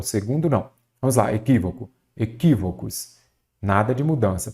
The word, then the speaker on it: equívoco: Equívoco. Eu já sei que a antepenúltima sílaba é a tônica, ela será acentuada.